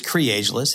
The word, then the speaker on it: Creageless: It is cageless. It's kind of tricky to spell. Uh and when you see it, it's kind of tricky to pronounce, but it's basically creativity is ageless.